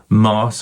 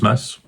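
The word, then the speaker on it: Maas: chatting to Dominic Miller the guitarist and Chris Mars I think it's pronounced Chris Mass um the drummer and Sting has put together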